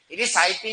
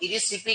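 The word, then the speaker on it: Erysiphe: इरिसाइपी नहीं कहते वैसे तो, इरिसिपी कहते हैं इसे। क्या कहते हैं? इरिसिपी। तो इरिसिपी पोलीगोनी क्या है बोलो? इरिसिपी पोलीगोनी। अभी इरिसाइपी लिखा हुआ है, इंग्लिश प्रोनाउंसिएशन का फर्क है, बाकी कुछ नहीं।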